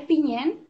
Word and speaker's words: Piñén: Sí, es Piñén. Lo que pasa es que las palabras en Mapuzungún que aparecen en los relatos, yo traté de respetar cómo se escribe en Mapuzungún, y es que no se le ponen las tildes de los acentos. Entonces, claro, por eso no se ve bien, pero sí, la E lleva un acento, digamos, allí, pero